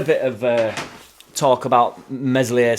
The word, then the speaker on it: Meslier: of uh talk about meselier silent s in general like we've